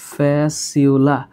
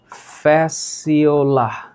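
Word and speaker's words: Fasciola: উচ্চারণ করবা হচ্ছে ফ্যাসিউলা। এইটার উচ্চারণ করবা ফ্যাসিউলা, আর এইটার উচ্চারণ করবা টিনিয়া। তো পুরা সায়েন্টিফিক নাম হচ্ছে টিনিয়া সোলিয়াম, ফিতাকৃমি। Tinea solium. তাহলে এই যে এটার উচ্চারণ হচ্ছে ফ্যাসিওলা।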